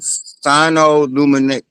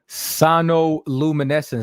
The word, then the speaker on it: sonoluminescence: I want to make sure I'm pronouncing it right. It's called sinoluminescence. Hold on. Sinoluminescence. Have you ever heard of that word? Sonoluminescence.